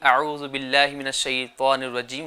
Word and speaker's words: اعوذ باللہ من الشیطان الرجیم: تو صحیح تلفظ یہ ہے اعوذ باللہ من الشیطان الرجیم. اعوذ باللہ من الشیطان الرجیم.